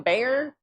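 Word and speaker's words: Bexar: You mean bear? It is pronounced bear.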